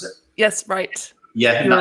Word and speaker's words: Ryte: Is that how you pronounce it? Yes, Ryte.